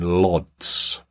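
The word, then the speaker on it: Łódź: Ireland and Armenia in Lots I think that's how you pronounce it l-o-d-z North Macedonia interesting one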